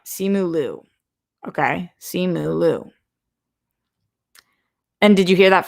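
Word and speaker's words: Simu Liu: comments of your post for this show it's pronounced see moo lou you you're right simulu okay see mooloo and did you hear that from him garth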